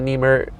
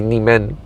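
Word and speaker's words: 你们: She says Chin Chuan Le Nimer, I think that's how you say it. Chin Chuan Le Nimer, but it's supposed to be Nimen because Nimen is Chinese.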